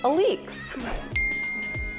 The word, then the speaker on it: Alix: Liz asked what the proper way to pronounce my name is, and Henry knows that it's Alix.